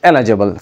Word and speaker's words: eligible: کو eligible کہتے ہیں it is not eligible it is eligible first syllable کو آپ نے stress کرنا ہے 22nd word is objectionable